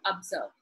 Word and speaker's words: observe: second syllable is test let us look at the word observe observe two syllable it is in the second syllable that the stressed is given that is observed the